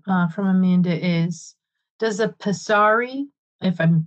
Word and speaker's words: pessary: The next question from Amanda is, does a pessary, if I'm pronouncing that right. Okay, good. Pessary.